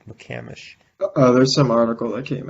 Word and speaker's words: McCamish: How do you McCamish Bowl? pronounce? Apparently, it's not. It's McCamish. It's McCamish? After all the people who what?